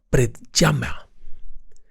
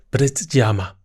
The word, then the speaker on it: Predjama: hacia el este, en un lugar conocido como Predjama. Predjama. Tiene una pronunciación peculiar.